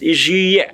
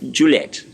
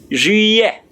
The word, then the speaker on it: juillet: The word July in French is juillet. Now the J-U is ju, and the L-L-E-T is iye. Please, the T there is silent there.